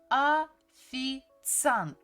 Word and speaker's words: официант: Actually, when we pronounce, we don't really say letter E, so we just say официант, официант, официант, официант, официант.